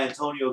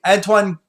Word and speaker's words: Antoine: Luke Skywalker will be played by Antonio Griezmann.